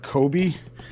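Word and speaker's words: Coby: I sold these gold Kobe, C-O-B-Y, I think it's Kobe, how you pronounce it, ornaments.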